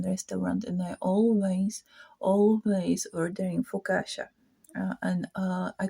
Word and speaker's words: focaccia: So they teach me that it's pronounced focaccia and maybe new Norwegian, not fluent, but Norwegian I knew good.